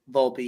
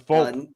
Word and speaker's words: Volpe: Volpe, yeah, Anthony Volpe. I thought it was Volpe.